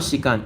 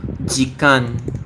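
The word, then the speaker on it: 時間: Oh no, it's not Shikan. It's Jikan. It's not. This isn't pronounced Shi. This is only pronounced Toki or Ji.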